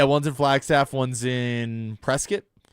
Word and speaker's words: Prescott: Yeah, one's in Flagstaff, one's in Prescat. So, no, they they got some decent ski. Is that the proper pronunciation of Prescott or is it Prescuit? It's Prescuit.